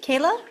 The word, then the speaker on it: Kayla: Kayla. Did I pronounce that correctly, Kayla?